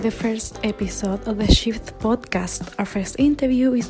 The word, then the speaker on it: XIVT: it's short for that we call it shift because xivt in german is pronounced shift but it deals with